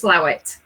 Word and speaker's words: Slaithwaite: So some of the Yorkshire Slaithwaite. Slaithwaite is actually pronounced Slowit.